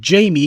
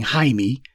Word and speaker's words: Jaime: And he's letting people call him Jamie because Jamie seems a lot more saleable to a lot more marketable to a black audience than saying Jaime, which is the Spanish pronunciation of it.